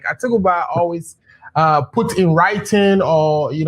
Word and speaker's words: Atubiga: I'm getting the name wrong, right? It's Atubiga. Yes. Atubiga.